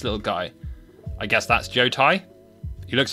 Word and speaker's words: Jotai: moving swiftly on so Joe Tai pronounced Joe Tai means state in Japanese they go there you